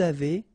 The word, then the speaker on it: avez: nous avons, vous avez, a Z at the end will produce this E sound, avez, little link between the